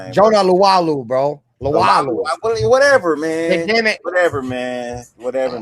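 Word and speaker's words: Jonah Laulu: Um, the uh Lua, however you say his name, Jonah Lalu, bro.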